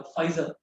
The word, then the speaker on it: Pfizer: Britain की company है, PFIZER, फाइजर, P silent है उसमें।